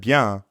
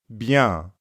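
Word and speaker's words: bien: well that's right savabia you might have noticed that Bia also has a nasal sound ah Beyond give it a try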